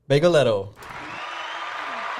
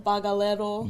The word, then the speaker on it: Bagelero: so who says it wrong? Everyone. Hold on. What do they say? Say it again. Bageletto? I say bagelero. Yeah. Is that how you say it? Can I throw a little What Nah, did it's everyone say? perfect. It's Bagelero? Bagalero. Bagalero? It's not a boggle.